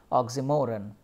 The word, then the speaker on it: oxymoron: Oxymoron, you know, it's not moron, oxymoron. The stress is on mo part.